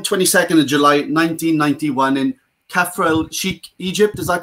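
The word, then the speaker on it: Kafr El Sheikh: Born 22nd of July 1991 in Kafrel Sheikh, Egypt. Is that correct? Did I pronounce that right? Correct. Okay, sorry. Kafrel Sheikh, yes.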